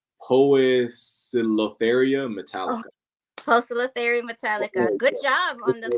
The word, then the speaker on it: Poecilotheria metallica: Poecilotheria metallica. Oh, Good job on the pronunciation.